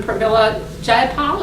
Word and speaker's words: Pramila Jayapal: That's been introduced by Congresswoman Pramila Jayapal. Is that how you pronounce it?